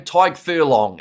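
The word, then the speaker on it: Tadhg Furlong: How do you pronounce Ireland number 3's name? Tyke Furlong.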